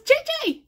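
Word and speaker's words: Zezé: And a rare thing, somebody spelled JJ's name right, Z-E-Z-E. So, it's the Korean version. It's pronounced the Korean version, and it's spelled the Brazilian version, and it's from My Sweet Orange Tree, I think it is.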